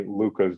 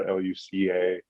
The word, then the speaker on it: Luka: Growing up, there were not too many Lukas that I knew of, Luka, spelled that way. And so people still continue to sometimes spell it wrong, say Luke Garza or Luca.